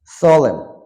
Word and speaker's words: solemn: solemn, solemn মানে একাগ্রতা। কলাম, N সাইলেন্ট থাকবে মানে সংবাদপত্রের কলাম।